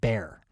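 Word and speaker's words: Bexar: english very confusing and down in texas they apparently pronounce it bear so if i say behar or bear and you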